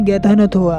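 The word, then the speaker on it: Ghatanothoa: से कहता है कि मेरे नाम को प्रोनाउंस करना बहुत ही ज्यादा मुश्किल है इसके लिए तुम्हें अपनी जुबान को पकड़ना है और बोलना है गैथ न थोवा मेरा नाम गैथ न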